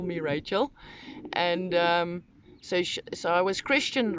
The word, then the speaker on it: Rachel: In my own language, it's pronounced Rachel, guttural G, Rachel.